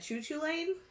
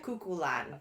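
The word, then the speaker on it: Cú Chulainn: So I at first said choo choo lane which I would have thought was acceptable but Google quickly corrected me cuckulan.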